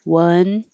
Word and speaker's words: wonder: Wonder is as in up. And wander is like hot. So this one is 2 syllables. This would be like wonder, and this is wander.